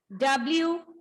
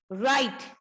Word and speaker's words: write: Then next WRITE. Here also W is silent. So we read the word like this. Write.